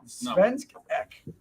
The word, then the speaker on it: Svensk Ek: on Svensk Ek, right?